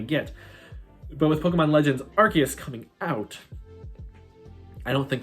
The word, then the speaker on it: Arceus: be an arceus episode i keep saying it's arceus this is the correct pronunciation now so the hierarchy is episode people thought we were going to get but with pokemon legends arceus coming out i don't think that's as likely